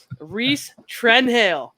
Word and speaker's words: Rhys Trenhaile: We've got your Windsor specialist for this month, Rhys Trenhaile.